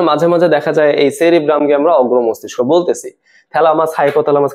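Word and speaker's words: cerebrum: গুরু মস্তিষ্ককে বলে দিছে সেরেব্রাম আসলে না কথাটা কিন্তু ঠিক না ঠিক কথাটা কি আমাদের এই অগ্রমস্তিষ্ক বা গুরু মস্তিষ্ক এটা তিনটা ভাগ থাকে প্রথম ভাগটার নাম হচ্ছে সেরিব্রাম সেরেব্রাম সঠিক উচ্চারণ যদিও সেরিব্রাম তারপর আমাদের থ্যালামাস এবং সাথে হচ্ছে হাইপোথ্যালামাস।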